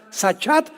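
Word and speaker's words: שחת: porque la palabra hebrea sachat se escribe con s Samuel y ch como suena sachat con té de tío al final y esta palabra significa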